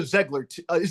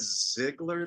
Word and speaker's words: Zeigler: I think she knows a Zeigler. You do pronounce it Zeigler, right? Zeigler. Zeigler. Do you pronounce it Zeigler? Well, we always said Ziegler, like a, but it's wrong.